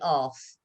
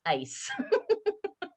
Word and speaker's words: ace: and it was like i've got the ass no it's pronounced ace so yeah you you